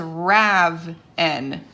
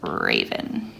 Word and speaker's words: Raven: If I didn't put that line there and I decided to put it here instead, I would pronounce that as Rav-N. So that's why instead of Raven, we want to keep it as Raven, with the open syllable where the vowel shouts its name all the way down.